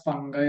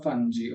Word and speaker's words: fungi: is kingdom fungi so normally they pronounce it as fungi or funi okay so anything is fine so kingdom fungi are